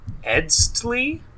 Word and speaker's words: Eztli: I think it's Keeper of the Edstli. Oh yeah. EZTLI. It's Tali.